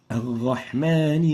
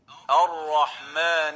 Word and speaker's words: الرحمن: the ra, and the first one is replacing the ra with a ghain. الرحمن الرحيم. الرحمن الرحيم. Gha instead of Ar-Rahman. Gha instead of Ar-Rahim. Ar-Rahman, Ar-Rahim is wrong, and the proper way of pronouncing it is الرحمن الرحيم.